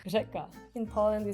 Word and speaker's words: řeka: Yeah, we because in Czech we do have like one letter, it's ž, and it's not like R, but it's kind of like R with like your tongue is like vibrating, so it's ž, and even some Czech people have like problem with pronouncing that.